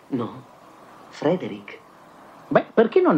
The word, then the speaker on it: Frederick: No, si pronuncia Frankenstein. Allora dice anche Friedreich. No, Frederick.